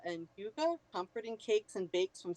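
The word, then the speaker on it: hygge: about oh here and it gives you the pronunciation Huga it's Huga okay Huga I like it I like the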